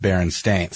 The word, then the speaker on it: Berenstain: I remember it being spelled Berenstein but pronounced Baron stains see I mean it's